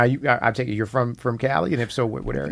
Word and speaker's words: Cvlii: Pronounced Cali. Cali. The A is upside down.